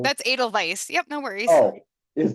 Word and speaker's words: Edelweiss: I have no idea how to pronounce Edelweiss. Oh, Edelweiss. that's Edelweiss.